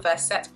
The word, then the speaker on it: Verset: So yeah, so let me tell you a little bit about Verset Parfums. Hopefully I'm saying Verset correctly. I just know that I'm not, but it's spelled V-E-R-S-E-T. That's how I would pronounce it.